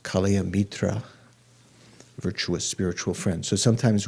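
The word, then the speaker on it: kalyāṇa-mitra: it's a translation of the sanskrit i think pronounced kalia mitra virtuous spiritual friend so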